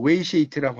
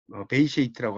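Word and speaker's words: Weisheit: 그리고 이제 이 중간에 있는 웨이쉐이트라고 하는 거, 베이쉐이트라고 하는 거, 이 독일어에서는 W가 이 V 발음 나니까 베이쉐이트라고 하는 거.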